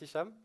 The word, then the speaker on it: Hicham: Mi nombre es Hisham, pero puedes llamarme, como el sombrero.